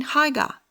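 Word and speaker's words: Haigha: happy his name in Haga he he pronounced it so as to rhyme with mayor I love my loaf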